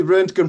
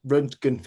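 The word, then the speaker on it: Röntgen: It's the Runken Professor. Yeah. So, it's named after uh Conrad or Wilhelm Conrad Runtkenf who's the who discovered X-rays back in the uh the early 20th century.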